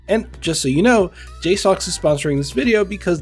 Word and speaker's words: JSAUX: That's right, it's our very own JSAUX, makers of some of the best Steam Deck accessories on the market, and yes, that is how you pronounce their name.